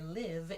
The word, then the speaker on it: live: The vowel pronunciation of the I sound is different. In life, it's a very open sound. Lie, like life, life. In the second word, live, the I sound is kind of tall, li.